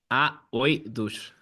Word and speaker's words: Aoidos: So how do you pronounce the band name so I don't butcher it? Okay, AOIDOS.